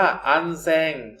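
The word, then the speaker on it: 安全: คำ ว่า ปลอด ภัย ภาษา ญี่ปุ่น ออก เสียง ว่า อัน แซง นะ ครับ แล้ว จาก ตอน นี้ เลย uncen หนัก จุด ๆ ก็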